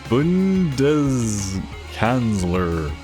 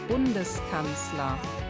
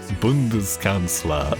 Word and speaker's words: Bundeskanzler: Bundeskanzler.